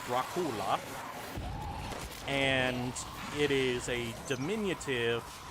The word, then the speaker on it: Dracula: First of all, in his native language, it would have been pronounced Dracula, and it is a diminutive version of the word Dracul, which was what his father was known as.